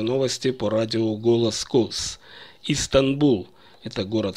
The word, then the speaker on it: Стамбул: Истанбул. Это город в Турции. Принято по-русски произносить название как Стамбул.